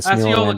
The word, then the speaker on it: Osceola: Osceola County. Is that how you say it? Osceola. That's Osceola County.